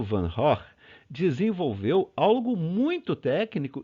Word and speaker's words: Van Gogh: É assim que se pronuncia o nome dele em holandês, Van Gogh, né?